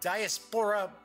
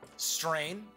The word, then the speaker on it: diaspora: the star finder adventure the Diaspora strain diaspora I should say that's how it is diaspora is how it's pronounced and it is the first